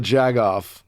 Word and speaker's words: jagoff: Trump is still a jagoff? Am I saying it right? Yeah, Megan? You're doing great. Okay, you just gotta do it with confidence.